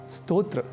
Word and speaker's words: स्तोत्र: ही अर्थों को जानेंगे उस समय स्तोत्र का उच्चारण स्रोत नहीं करेंगे और स्रोत का उच्चारण स्तोत्र या नहीं करेंगे इसी प्रकार एक और